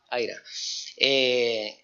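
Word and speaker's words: IHRA: ¿En español se dice AIRA o IRA? Bueno, AIRA.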